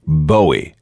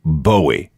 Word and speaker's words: Bowie: himself David Boi not buoy but Boi oh and let's be clear that's how you pronounce it Bowie not buoy not Bo although guitarist MC Ronson